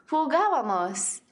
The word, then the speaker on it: jugábamos: Something to notice is that the tilde on the first A. That shows you the accent needs to go on the third syllable from the end instead of the second syllable from the end, which is the most common pronunciation for most verbs.